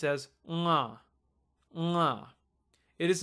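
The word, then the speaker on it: ङ: It's pronounced as nga, nga.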